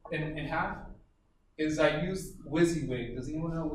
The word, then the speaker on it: WYSIWYG: things in time in half is I use whizzy whizzy pronounce what you see is what you get that's